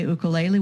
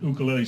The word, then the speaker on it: ukulele: that would include anyone who likes to play ukulele.